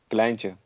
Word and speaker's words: kleintje: How do you say that word? Kleintje.